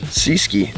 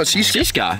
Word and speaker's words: Seaskai: Would you pronounce that Seaskai or Seaski? Seaski. No, Seaskai. Seaskai. Seaskai. Oh, yeah, because it's got a little cloud.